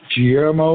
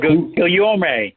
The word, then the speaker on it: Guillorme: So if he gets beaten out, which is a possibility, I can't pronounce his name, Guillermo or Oh, Guillorme.